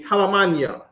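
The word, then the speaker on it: ثمانية: in in eight in in arabic it would be talamania talamani is how you say eight in arabic so our number is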